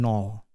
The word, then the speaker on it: nol: So if I put this into syllables, and nol, nol, nol. So this is nol, and this one is nol, nol, nol. Nol, nol, nol, nol, nol, nol. So there are two ways to pronounce nol.